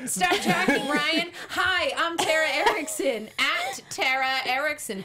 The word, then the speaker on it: Tara Erickson: obscure name that everyone I always feel like get I say Ericson cuz I blend him together and that's not my name terrar exactly it's